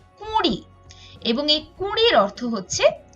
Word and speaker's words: কুঁড়ি: হয় 20, 19, 20, কিন্তু আমরা যদি চন্দ্রবিন্দু দেই তাহলে আমাদের অবশ্যই আনুনাসিক উচ্চারণ করতে হবে এবং বলতে হবে কুঁড়ি, এবং এই কুঁড়ির অর্থ হচ্ছে মুকুল।